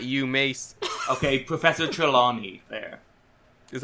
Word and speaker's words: Trelawney: lady hippy no not you Mase okay professor Trelawney there is how you say it I forget